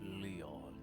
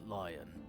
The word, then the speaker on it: Leon: First of all, my name is Leon, not Lion.